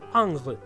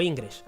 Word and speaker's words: Ingres: muy concienzudamente en especificar que angres se pronuncia ang y no ingres por favor que no